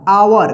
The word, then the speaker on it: our: यहां पर देखिए IT इट, IS इज, OUR आवर। देखिए रूल में क्या था कि OU एक साथ रहे तो OU का आव उच्चारण होगा, ठीक है। तो यहां पे आवर होगा।